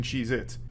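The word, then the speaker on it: Cheez-It: Cheeits. And I'm still saying it wrong. Cheeits never existed. They have always been Cheeit, not plural.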